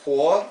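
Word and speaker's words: 火: radical for fire it's it's pronounced Hua and you can see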